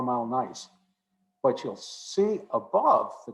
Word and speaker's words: gneiss: piece of 4 mile gneiss that I have right here. This is characteristic 4 mile gneiss, but not all gneiss. By the way, gneiss is spelled G-N-E-I-S-S. It's pronounced N-I-C-E, but G-N-E-I-S-S is nice.